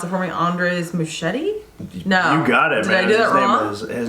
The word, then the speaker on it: Muschietti: um the director was if you want to pronounce it for me Andres machete no you got it his name is on